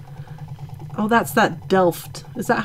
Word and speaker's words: Delft: Oh, that's that Delft. Is that how you say it? Mm-hmm. Delft.